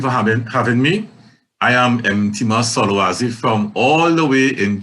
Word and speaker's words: Mtima Solwazi: And I saw his name and I'm like, well, how do you say that? And they said, it's Mtima. Mtima Solwazi.